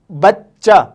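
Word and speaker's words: بچہ: इतना जान लें कि इस चे को हम 2 बार प्रोनाउंस करेंगे।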